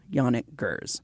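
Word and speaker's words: Janick Gers: And excuse me if I'm mispronouncing his name, but I'm pretty sure it's Yannik Gers.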